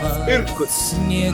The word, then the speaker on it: Irkutsk: How do you pronounce it? Irkutsk.